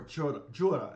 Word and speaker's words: cura: It's actually a Cura, or Jura, is how they say it, but it's spelled C-U-R-U.